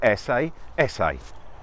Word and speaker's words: Esseesse: It's the Esseesse. Yeah. Well, that's what we were told how to pronounce it. Personally, if you look at the badge, I think you call it the ESS, something like that.